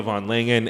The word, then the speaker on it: von Langen: class, starting with Michaela von Langen and Rachel Olshansky. Michaela, how do you pronounce your last name? Von Langen. Von Langen? It's German.